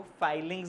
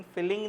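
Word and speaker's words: filings: तो जो शेविंग्स निकलती हैं, जो छोटे-छोटे लोहे के पीस निकलते हैं, उनको फाइलिंग्स बोलते हैं। आयरन फिलिंग नहीं बोलते। वह वर्ड गलत है।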